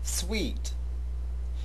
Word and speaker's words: suite: sweet you surely have heard the word sweet before and chances are you have heard it mispronounced on most occasions so let's take a